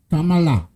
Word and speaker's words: Kamala: You gotta put the accent in it, buddy. Okay, buddy? Kamala.